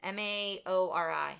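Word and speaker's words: Māori: Maori.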